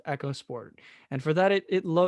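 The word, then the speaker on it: EcoSport: let's get this clear it is not eco sport because ford wants us to pronounce it echo sport and for that it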